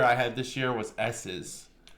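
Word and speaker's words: Esses: It is S's, which is it's spelled E S S E S, but is actually just S's for Skittles.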